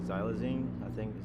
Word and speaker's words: xylazine: fentanyl on to now the new things like xylazine I think is how you pronounce it that's the tranquilizer right yeah it's